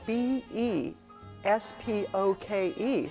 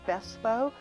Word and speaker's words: bespoke: begin with it's spelled b e SP oke so you may hear bespoke because that's what people are going to read but it's actually a British word pronounced best bow it means to be